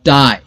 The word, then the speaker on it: tie: पाई, PIE, पाई और टाई, TIE, टाई। सो इस spelling pattern, इस वोवेल कॉम्बिनेशन को हम कहेंगे लॉन्ग वोवेल आई साउंड।